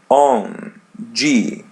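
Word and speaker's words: onde: As you see the letter n. We pronounce it as a light n on. And there is D by the end. We pronounce it as G.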